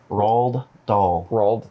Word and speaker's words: Roald Dahl: the dogs oh you're we're not saying that right no it's hot as you pronounce it roald dahl okay anyway uh yeah